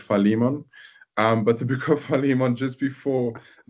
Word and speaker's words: Philemon: So I want to say Philemon, but I know some people pronounce it Philemon.